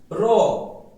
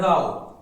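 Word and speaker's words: row: र यहां पे दिया है राव। राव आर ओ डब्ल्यू राव झगड़ा है ना? राव झगड़ा। र आर ओ डब्ल्यू र लाइन या पंती है ना? सब एक रो में बैठ जाओ।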